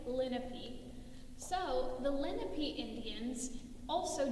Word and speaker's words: Lenape: we're looking at today can be pronounced lenape or lenape i'm going to say linnappy so the lenape indians